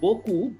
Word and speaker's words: beaucoup: In the word Boku, BEAUCOUP, there are two combinations. One is EAU, which I have already told you, EAU is O. And the second combination, which I have not yet discussed with you, which is OU. And what is the pronunciation of OU? Oo.